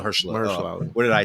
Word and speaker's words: Mahershala Ali: invested in Marshall Ali, like Mahershala. they can't afford. Oh, I mispronounced his Yeah, Mahershala. Mahershala. Mahershala Ali.